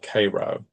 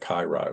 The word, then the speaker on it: Cairo: Georgia, a town called Cairo, and it's it's spelled like Cairo, Egypt. You know, you you'll get corrected if you if you say it Cairo and not Cairo.